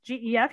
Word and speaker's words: Gef: Again, G-E-F, you think, well, it must be Jeff, right? But no, it's Gef.